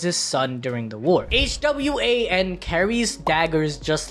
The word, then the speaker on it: Hwan: His father, Sung Il Hwan. Oh my, okay, I'm sick of this, bro. It's Hwan, H-W-A-N, not J-U-A-N. That's just like how you pronounce it.